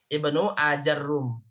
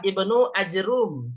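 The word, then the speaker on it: ابن آجروم: Nah, yang ketiga Ibnu Ajrum cara bacanya. Jadi hamzahnya tidak baca panjang, tapi dibaca pendek. Jimnya disukunkan, ro-nya dihilangkan tasydidnya. Ibnu Ajrum. Gitu ya. Nah, yang keempat adalah Ibnu Akrum, bukan pakai jim tapi pakai kaf. Ibnu Akrum dalam bahasa yang lain.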